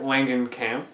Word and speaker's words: Langenkamp: The main character in the movie, Nancy, played by Heather Langenkamp, that's how you pronounce it.